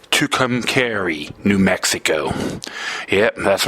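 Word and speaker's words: Tucumcari: Tuk I hope I pronounce this right. Tukami New Mexico.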